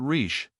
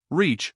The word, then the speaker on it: rich: "Our English adverbs do not terminate in mong, and we pronounce the ch as if there were a t before it. We say rich." "Reach," remarked the foreign gentleman.